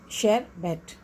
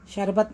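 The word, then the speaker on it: sherbet: शेरबेट, शेरबेट, शरबत नहीं, शेरबेट। Vehicle, vehicle, इसमें H साइलेंट है, व्हीकल।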